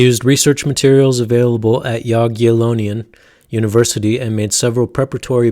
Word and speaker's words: Jagiellonian: It's pronounced Jagiellonian.